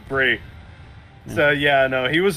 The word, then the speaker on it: Brie: is Nikki Bella oh wait it's Bri Bella sorry it's Brie so yeah no he